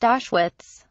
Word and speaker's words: Auschwitz: Keemstar, it is pronounced Auschwitz.